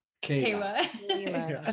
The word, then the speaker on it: Keila: so this evening we actually have jorge and kyla did i say that right okay kayla yeah i said i said kyla dang it's